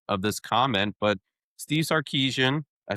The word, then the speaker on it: Sarkisian: But Steve Sarkisian, I said it right, boys.